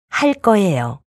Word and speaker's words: 할 거예요: 발음. Tensification 2. 할 거예요.